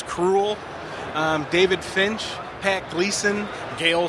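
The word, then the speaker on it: Krul: With the Brightest Day panel, we had Ian Sattler, James Robinson, Jeff Johns, JT Cruel, and they made sure how to pronounce his last name, and it is Cruel.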